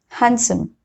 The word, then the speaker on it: handsome: It is not pronounced in some common words like this: handkerchief, Wednesday, sandwich, handsome. Okay, so in all these 4 words, D has been silent.